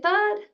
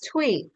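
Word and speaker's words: Thuy: I ask but how do I is it thud or th thud from North Carolina am I saying your name right t h u y how do you say your name chassity it's tweet tweet oh my yeah it had a D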